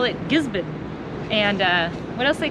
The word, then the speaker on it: Gisborne: your boat you would normally think gizon is pronounced giz born but they call it gizon and uh what else they call it Gibby